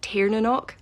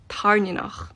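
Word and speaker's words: Tairn: She calls Violet's Dragon Tanok. I have no idea who that is. When I read the book, I read Tarn, which means thunder.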